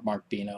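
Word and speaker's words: Benno: Leon Russell and uh Mark Beno or markbo I don't remember Beno I think is how he pronounces it the Asylum choir um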